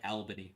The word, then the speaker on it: Albany: that's what I'm saying the AL in Albany is pronounced like the AL in You Can Call Me Al by Paul Simon I do know that song um okay so it's like Albany right not not all